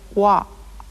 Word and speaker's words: は: you've already learned that this letter is pronounced ha. but it is also used in sentences to represent the grammatical particle wa.